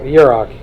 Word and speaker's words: Yarok: Yurok. You probably name that. You can name Yarok.